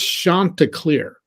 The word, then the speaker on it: Chanticleer: It's pronounced Chanticleer. Okay. Chanticleer.